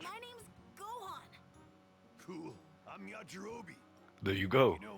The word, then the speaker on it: Yajirobe: That's how you pronounce him? Yeah, it's Yajirobe.